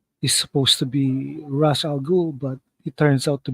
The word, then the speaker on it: Ra's al Ghul: is supposed to be Ra's al Ghul, but it turns out to be Ubu, uh, Raz's enforcer right hand man.